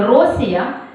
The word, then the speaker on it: Росія: Русь у грецькому варіанті Росія наголос на першому складі До речі як назву